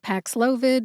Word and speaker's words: Paxlovid: media relations department and also a video about Pax loid on the drug sponsor website I'm on team nurat trir let's review We divided Pax loid nurat and ranir into syllables then we talked about which syllables were